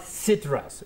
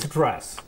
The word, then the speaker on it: stress: First of all, it is not citrus. It is stress. Stress. So don't break stir. Right? It is a consonant cluster.